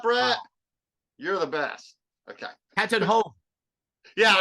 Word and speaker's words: Van Tatenhove: It's Van Tatenhove, so it's like Van, and then like Sharon Tate, and then the number 10, and then Hove, which rhymes with cove.